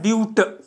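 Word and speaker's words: but: 4 इसको लिखते हैं बट से, बट इसका प्रोनाउंसिएशन आता है ब्यूट, ब्यूट।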